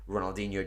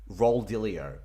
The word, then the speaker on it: Ronaldinho: and every single time he would pronounce him Roald dilio he would call him role dealio instead of Ronaldinho and I'm like how